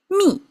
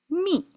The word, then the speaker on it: 密: And it pronounced the same. Me.